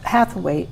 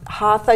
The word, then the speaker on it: hatha: connection with one another so you do have hathaway yoga right and yoga i do um hatha yoga yes which is available i knew how